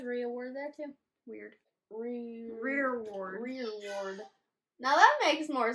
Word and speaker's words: rereward: We've been pronouncing this wrong. So it's not reward. It's Rereward.